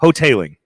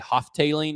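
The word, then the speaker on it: Hotaling: Hotailing. Hotailing, yeah. That's how you pronounce it. I just call him Coach Haas because Jason Hotailing. Because it's not spelled like Hotailing, no.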